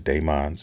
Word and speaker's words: Daemons: I thought it was Demons of the Shadow Realm, but I guess Daemons of the Shadow Realm is how you pronounce it.